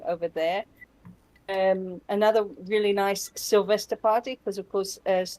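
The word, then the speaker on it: Silvester: Another really nice Sylvester party, because of course, as Tosha will no doubt explain, they call New Year's Eve Sylvester in Germany.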